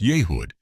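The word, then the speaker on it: Yehud: About 33 minutes after launch in mission control and Yehood pronounced Yehood, the three founders embraced.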